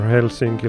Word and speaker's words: Helsinki: There only used to be Helsinki right here, or Helsinki like it's pronounced in Finnish, but I also added Oulu up here at the bay.